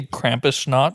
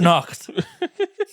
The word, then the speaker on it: Krampusnacht: Did you say Krampus snot? That's what it's called. On Krampusnacht or Krampus night. You need to pronounce the T, or it sounds like Krampus snot. How would you pronounce it? Krampusnacht.